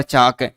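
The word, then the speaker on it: chalk: है टाक वाक और चाक इसके अंतर्गत समानता प्रकट करता है कि तीनों के अंतर्गत अंत में एल के लिखा हुआ है और इनका उच्चारण करेंगे तो एल साइलेंट रहता एल का क्या हो जाता है?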